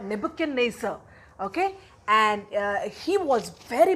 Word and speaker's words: Nebuchadnezzar: It is Nebuchadnezzar. Can you pronounce it? Yes, it's Nebuchadnezzar.